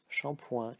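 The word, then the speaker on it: shampooing: doesn't matter alright but do not forget the this silent G at the end alright so now let's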